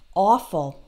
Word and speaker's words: awful: Or in the word awful, which means terrible, awful. There it's spelled A-W, but that's all the same vowel sound as in the word off.